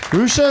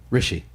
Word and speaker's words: Hrishi: Rusha, is that right? No. How do you say it? Rishi.